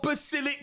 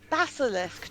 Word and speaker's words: Basilisk: He's got Basilic Quest 4, doesn't he? Basilisk, Jeremy. Basilisk. Yeah, but people don't pronounce it at that age.